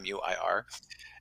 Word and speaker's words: Muir: people have sometimes have hard times pronouncing my last name new or muir and so i had to create a rhyme so they could get it right on my website so